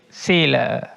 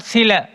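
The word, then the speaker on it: sīla: The Pali word is sila. The Pali word is sila, not sila. Sila. Yes, long.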